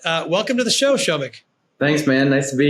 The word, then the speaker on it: Shomik: nice to be here first time someone's nailed my pronunciation I've I've Americanized my name to my own shame but what you just did is you did it right hey man I've been